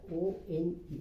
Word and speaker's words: won: Now another word is won කියන එක O-N-E. won කියන්නේ මොකක්ද? මේ what do you call me? දින්න කියන එකනේ. But it is pronounced as one.